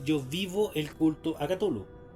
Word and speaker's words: Cthulhu: vivo el culto a Cthulhu. O a Cthulhu, como quieran decirlo. Cualquiera de las dos palabras está bien dicho. Porque en el fondo nadie sabe cómo se pronuncia esa cuestión.